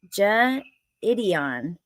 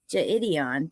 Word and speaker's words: Jidion: Hey, Twisted Black pronounced Jidion. Okay, Jidion.